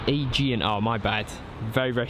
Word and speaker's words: Aegean: And Ollie Head saying it's pronounced Aegean.